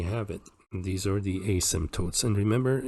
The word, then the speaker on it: asymptotes: it these are the asymptotes and remember in the word asymptotes the p is silent so you don't say asimp there's no P do not pronounce the p is asymptotes alrighty and we're done